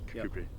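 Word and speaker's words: Kirkcudbright: Kubri.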